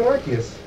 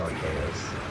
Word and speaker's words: Arceus: Oh, he became Arceus. Sweet. Our saves? If you want to say it not correctly, sure. I've never heard anybody pronounce it Arceus.